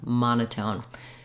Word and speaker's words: monotone: uh um it's a short reduced sound Mona monotone it's almost it's very fast the ma is stretched and the n and tone are shorter but we do have secondary stress on the last syllable tone because we have our clear o vowel here so it's just like in the word tone your tone is good um we have the